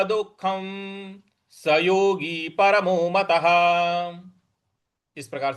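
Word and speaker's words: दुःखम्: देखिए, यहाँ पे दुख, दु के आगे जो विसर्ग है इसका, इसके आगे ख है तो यहां पर आधा ख का हमको उच्चारण लाना है, दुख ऐसे बोलना है।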